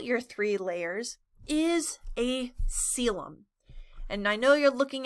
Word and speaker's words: coelom: three layers is a selem and i know you're looking at that word you're like that's not how you pronounce that but it is soas and i like